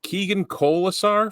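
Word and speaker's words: Keegan Kolesar: right I hope I say his name right Keegan kisar from the Vegas golden kns is that right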